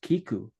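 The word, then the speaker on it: 聞く: Both words are pronounced kiku, to hear or to listen.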